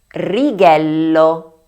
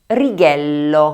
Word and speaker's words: righello: La número 1, ¿cómo la pronuncian? La forma correcta es GIRO, GIRO (vuelta). Número 2: RIGHELLO, RIGHELLO (regla).